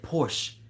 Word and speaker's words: Porsche: Well, I said Porsche. Well, you see, the Porsche has a silent S with it.